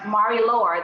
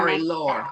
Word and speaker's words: Marie-Laure: Marie-Laure, that's how they pronounce her name. Marie-Laure.